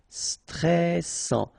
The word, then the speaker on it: stressant: Stressant. Final T not pronounced. A-N together. En. And then double S. Sans. And it will open the pronunciation of your E. So, E. Stressant. Stressant. Chic. Okay, you pronounce the final C.